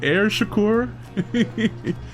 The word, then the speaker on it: Shakur: Air Shakur. You mean Air Shakur? I think just because the last name threw me off, I gotta throw like some emphasis on the first bit, you know?